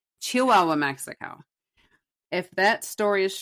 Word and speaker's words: Chihuahua: So, the store agreed and Paswell took the mannequin back to Chihuahua. Chihuahua Chihuahua. Good lord. I was I saw the H there and it felt like I needed to pronounce it. Chihuahua, Mexico.